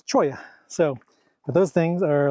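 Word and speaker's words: cholla: My Spanish pronunciation is definitely lacking, but I think I was pronouncing it chola, but it's choya.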